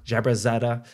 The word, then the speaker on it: Jaberzadeh: and from DFA well Katie Hendricks jabrazetta did I pronounce it correctly that was good I did